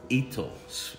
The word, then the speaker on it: Hito: very basic one called Ito, that's with a H, Hito, but pronounced Ito, and that wine is very, very good.